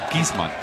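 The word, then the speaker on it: Giessmann: Could be Gisman. Huh? Gizman. It's Gizman in German.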